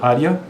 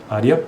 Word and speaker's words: área: é a mesma coisa área área por mais que seja um e né e a na verdade na pronúncia é i então é área série série